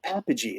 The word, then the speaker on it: Apogee: I'm like, is it pronounced Apogee? He's like, no, Apogee.